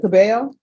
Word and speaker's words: Cabello: All right, and are you Miss Cabello? Yes. Am I pronouncing your last name right?